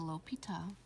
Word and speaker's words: L'Hôpital: l'hopital's rule pronounced a l'hôpital occurs when the limit